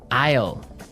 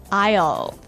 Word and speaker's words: aisle: spelled so strangely right we don't pronounce the S the S is silent that's true ale so